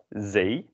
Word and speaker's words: zee: The next one is pronounced as Zee, which means sea, which is kind of always